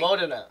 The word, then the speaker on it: Modena: Yeah, Italy is Modena. Like that, dude. Modena. Modena's wrong. It's always Modena. Like there's one or two like it's really good shows, yeah. And then see, you play in like Modena.